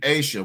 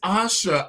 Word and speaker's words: Asha: what they call you I'm gonna call you Asia with the long a Miss Asha Noel the host of sopis so we've been saying it wrong is that what you're saying Asha it's Asha and I just heard